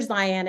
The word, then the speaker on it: Zeihan: And it's by Peter Zion, and his last name is spelled Zeihan. And he has a podcast